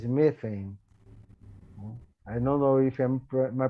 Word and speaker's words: methane: is not water, it's methane. I don't know if my pronunciation is correct, but in Portuguese it's metano. I think that in English is methane that you say, methane.